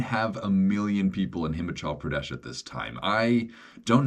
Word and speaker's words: Himachal Pradesh: Himachal Pradesh.